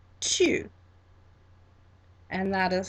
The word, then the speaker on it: tu: So I'm talking directly to someone, and that is tu, tu.